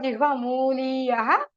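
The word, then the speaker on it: jihvāmūlīya: Whenever the Visarga followed by a Kavarga Ka Alpha Prana or Ka, then you get that sound, special sound. It is from the base root of your tongue. Then it is called Jihva Muliyaha.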